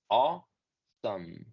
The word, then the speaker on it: awesome: Y la pronunciación de la última sílaba sí va a ser exactamente como la pronunciación de la palabra que por sí sola es some. Entonces, toda esta palabra se pronuncia awesome.